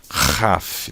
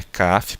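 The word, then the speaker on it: כ: Letra Raf, né? Feita esse RR na garganta, letra Raf. A letra Raf não é Kaf porque não tem o daguesh, tá?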